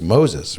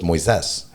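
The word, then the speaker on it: Moisés: his name is uh he'll tell you it's moses right but it's actually in brazil it's moises all right moises like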